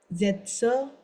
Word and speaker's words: Sätze: there is at the end E, then we'll pronounce Sätze, Dialoge oder irgendwas.